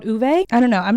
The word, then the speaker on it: Ove: is a man called o actually I think it's not pronounced that I think it's pronounced someone left a comment on my video U yeah a man called uve that's the Swedish pronunciation I hope I'm saying